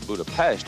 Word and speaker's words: Budapest: Hi, I'm Kurt Loder, and we're here in the Hungarian capital of Budapest, or Budapest as it's pronounced, straddling the Danube River about 100 miles east of Vienna.